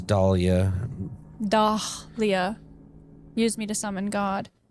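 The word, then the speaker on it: Dahlia: Dah Leah used me to summon God.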